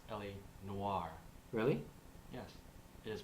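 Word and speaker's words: L.A. Noire: an SNF video where today we'll be reviewing ell no sunny it's it is actually pronounced LA Noir really yes it is pronounced LA Noir I actually have a lot to say about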